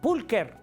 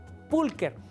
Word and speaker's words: pulcher: si dijeras Chucho pulcher pero la che en latín así como se escribe suena como K así entonces se pronuncia pulker pulker y Qué es la